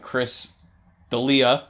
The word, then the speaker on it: Chris D'Elia: Was, Chris D'Elia. Yes, you pronounced it correctly.